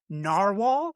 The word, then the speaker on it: Narwhal: Apex Cool Labs Narwhal. Am I pronouncing that right?